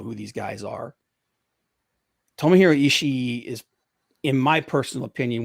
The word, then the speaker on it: Ishii: ishii with ishii actually i keep mispronouncing his name it's ishii and goto um he's